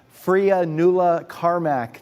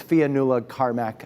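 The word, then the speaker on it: Fionnuala Carmack: Brenda Warm, Todd Maringan, Freya Nula Carmack, thank you, and Lou De La Garza, all at $500. And it's Fia Nula Carmack. I apologize that I mispronounced your name.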